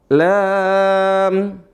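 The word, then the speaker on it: لام: Kemudian berikutnya lam, mim. Lam, mim. Nah, perhatikan. Nah, ini dibaca dengan lam. Lamnya dibaca berapa? La-nya, kalimat la ini dibaca berapa? 6 harokat.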